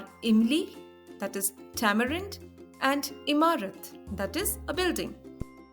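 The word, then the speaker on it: ए: A is pronounced as E in the word bed or set.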